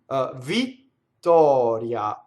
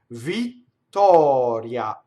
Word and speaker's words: Vittoria: Vittoria. So double T, open O, flipped R, semivowel A. You can make 5 mistakes in this word. Vittoria.